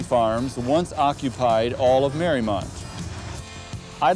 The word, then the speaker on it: Mariemont: Mariemont is pronounced Mariemont and was named after Mary Emery's estate in Newport, Rhode Island.